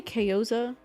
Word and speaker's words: Kayozia: So it's actually, it can be, I say Kayoza, but it's pronounced, like, it's technically typed out Kayozia.